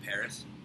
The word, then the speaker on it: PVRIS: I'm going to show him ah the band Paris or spelled pinterest but it's pronounced Paris and he's going to show me eddakath those